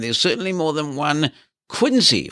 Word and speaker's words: Quincy: certainly more than one Quincy although I think in Massachusetts they pronounce it Quincy all very confusing but